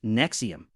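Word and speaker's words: NXIVM: Nexium now for something more modern, NXVM pronounced Nexium in America initially looked like a self-help organization for elites and celebrities.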